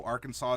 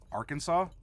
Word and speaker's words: Arkansas: it's it's Pelle dosa you don't pronounce the end and they looked at me like I was crazy and I just said Arkansas Oh which of course